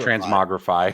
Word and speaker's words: Transmogrify: Transmogrify? Am I saying this wrong? Whatever. It is in fact Transmogrify.